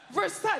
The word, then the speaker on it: Versailles: What do you need with all the other letters? It's like 10 letters. Versailles, that's 2 syllables.